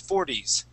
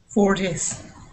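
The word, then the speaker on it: forties: end of that word instead of saying pronouncing that t saying four T's we want to say four D's 40s 40s good and we want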